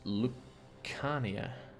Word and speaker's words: Lucania: It's pronounced Lucania.